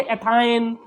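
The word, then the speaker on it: ethyne: अगर triple bond होगा carbon carbon के बीच में तो उसमें उसको बोलेंगे हम, प्रोनाउंस करेंगे आइन से, जैसे एथाइन, ठीक है, जैसे प्रोपाइन, जैसे ब्यूटाइन, इस तरह से हम उसको प्रोनाउंस करेंगे।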